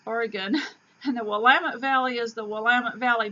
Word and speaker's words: Willamette: after moving here from Texas that Oregon is pronounced Oregon, and the Willamette Valley is the Willamette Valley, not the Willamette Valley, and Oregon is not Oregon, and it is not Oregon.